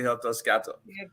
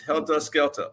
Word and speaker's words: helter skelter: He say helter scatter. It's helter skelter. For all the people listening out there, please, helter skelter, not helter scatter.